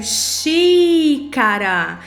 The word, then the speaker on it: xícara: Outro exemplo aqui, xícara. Aí você pronuncia, né? Articula pausadamente, repita se necessário. E o que você vai fazer? Xi, na sílaba xi, o som do i é aberto.